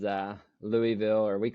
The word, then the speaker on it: Louisville: the way he said that you know everyone mispronounces uh Louisville or we call it Louisville here so oh